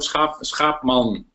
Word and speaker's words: Schaapman: I can't pronounce it properly in Dutch, so, can you pronounce it for us? Yes, Schaapman, calling from the...